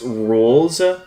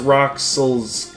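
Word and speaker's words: Rouxls: theme here is called It's pronounced Rules, which I specifically for all the players, including me, who mispronunciated Rules's name as uh Roxil's Card. Like, let's be real. Everyone thought it was pronounced Roxel's card, not realizing the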